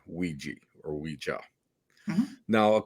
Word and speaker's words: Ouija: I will show you here as we get into that from a pronunciation standpoint. Some people say Ouija, some people say Ouija.